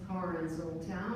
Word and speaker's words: Karin Soltau: Is it Karin Soltau? Karin. Karin. Yeah. Soltau. Hello. Good evening. Thanks for this opportunity. My name is Karin Soltau, and I'm the Democratic candidate for Magistrate District 8.